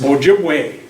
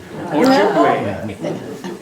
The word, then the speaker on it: Ojibwe: Well, it's mispronounced. It's Ojibwe. Ojibwe.